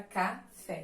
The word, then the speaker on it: café: proparoxítonas mas ok então oxítonas é a última sílaba mais forte da palavra eu coloquei aqui exemplo da palavra café Então temos a sílaba fé né que é a sílaba mais forte Então ela é oxítona temos lá as paroxítonas